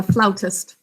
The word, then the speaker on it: flautist: looking like a flute a flutist you blow air right on top actually i think it's a floutist here's the way you